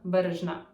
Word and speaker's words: Berezhna: And my full name is in Ukrainian it's Berezhna. So when I say that in English with English accent, that's going to be like and Berezhna.